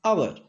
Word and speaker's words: hour: Next, H silent, hour, it is not hour, it is hour, an hour.